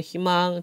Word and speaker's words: 희망: 것도 허용하 청소년은 우리의 희망 자 첫 음절의 자음이 왔어요 첫 아 미안 첫 음절이 아니라 초성 첫소리 첫소리가 자음이 왔어 이럴 때는 어떻게 발음하라고 이로 발음해 희망 청소년은 우리의 희망 또는